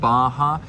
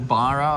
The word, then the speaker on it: Barra: is the neighborhood of Baja or Barra I suppose if you pronounce it in English it's a double R they pronounce it as a H sound here salvador Bay yeah Baya